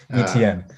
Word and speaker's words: Etienne: But I also went with Travis Etienne. That's how you pronounce his name. Etienne. I was close.